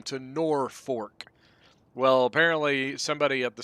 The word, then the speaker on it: Norfolk: live there's a place called Norfolk but people pronounce it nor fork and if you don't pronounce it nor fork